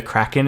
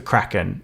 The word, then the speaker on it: Kraken: do you pronounce the Kraken properly. And it's like, Kraken. And he's like, actually, it's from the Scandinavian, so it would be Kraken.